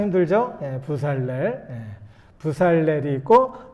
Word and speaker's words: 브살렐: 부살렐. 한번 따라해 볼까요? 부살렐. 발음하기 참 힘들죠? 부살렐.